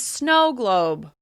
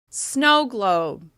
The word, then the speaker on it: snow globe: The word we're going to practice is snow globe. Snow globe. Can you hear which syllable receives more stress on this word? Snow globe. Snow globe. That's right, the first syllable is stressed.